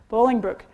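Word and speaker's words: Bolingbrook: video happening there uh help me pronounce this right is it balling Brooking Bowling Brook thank you Bowling Brook um so they got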